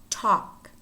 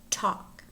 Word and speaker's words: talk: and words in which the L is not pronounced calf calf chalk Chuck should should half-half talk talk folk folk pong pong wood wood salmon salmon